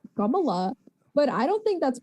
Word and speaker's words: Kamala: differently, but I say Kamala, but I don't think that's wrong either. And he was like, yeah, see, you're not wrong, but like that's like the Sanskrit Hindi way of saying it.